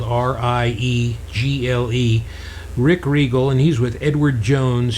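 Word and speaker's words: Riegle: Rick Regal, and his name is spelled R-I-E-G-L-E. Rick Regal, and he's with Edward Jones here in South Orange County, California, and he's a financial advisor.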